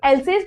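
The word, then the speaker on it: Alsace: इसको हम एल्सेस pronounce करते हैं एंड दिस इज लॉरेन।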